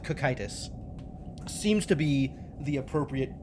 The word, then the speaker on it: Cocytus: The Greek word it's based off of has a hard K, so I'm going to go with cocytus.